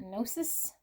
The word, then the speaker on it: Gnosis: We have Gnosis. I think I'm saying it right. The G is silent. Gnosis.